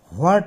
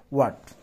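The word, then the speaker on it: what: ওয়ার্ডস, তোমরা হোয়াট বলিও না তো, হোয়াট বলবো না, ঠিক আছে? হোয়াট এটা বলিও না, বলবা ওয়ার্ড। উচ্চারণটা কী হবে বলো তো? ওয়ার্ড। কারেক্ট প্রনাউন্সিয়েশন হচ্ছে ওয়াট।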